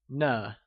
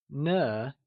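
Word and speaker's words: 呢: a new question particle, ne. Just like ma, ne uses a neutral tone and is pronounced using a soft falling sound, as if the sound is fading away, like ne.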